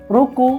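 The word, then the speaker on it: ろく: রুকু। রো লিখলে রুকু, বাংলাতে উচ্চারণ রুকু।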